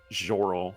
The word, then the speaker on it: Sjorl: Jorl.